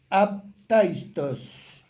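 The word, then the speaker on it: ἄπταιστος: Ese término sin caída, que es la palabrita griega esa que está ahí, aptaistos se pronuncia, aptaitos.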